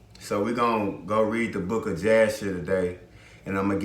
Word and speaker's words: Jasher: So we're going to go read the book of Jasher today, and I'm going to give y'all a little bit of information on that. Really, it's pronounced Hayashar, means Jasher.